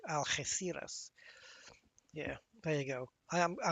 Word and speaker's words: Algeciras: The Alge, and then the C is like a TH, Algeciras.